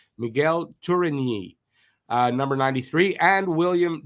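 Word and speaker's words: Tourigny: and David Ryan bucker wearing number 36 36 for reinbacher uh Miguel turingi that didn't say it right Miguel turini uh number 93 and William Trudeau number 84.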